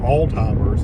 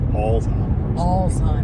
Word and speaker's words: Alzheimer's: But it's also people are said all timers instead of Alzheimer's.